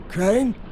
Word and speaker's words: Crane: Crane? Crane rhymes with train, and brain, and you're sane, a special and kind grain, of stupid, and rain, and plane, and the other kind of plane, and...